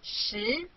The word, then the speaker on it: 十: This is its syllable 十.